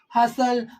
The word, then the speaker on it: hustle: middle of a word where T follows s means when t comes after s same thing is here like in Castle hustle bristle so in that case it takes the sound of s and becomes a silent account of s as